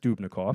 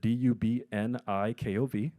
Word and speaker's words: Dubnikov: keep in custody a Russian national named Denis Dubnikov. I'm going to spell it for you if you want to Google it. D-U-B-N-I-K-O-V. Denis Dubnikov.